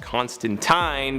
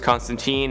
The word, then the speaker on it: Constantine: As I mentioned in a previous video, I know in the original source material it's pronounced Constantine, but in all of his live action appearances and animated appearances, he's referred to as Constantine, and honestly that's just kind of the preferred pronunciation nowadays. Okay, so John Constantine is a magical con man.